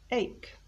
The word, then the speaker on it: ache: often mispronounced and again like stomach the h is silent so we don't say h we say ache what's an ache well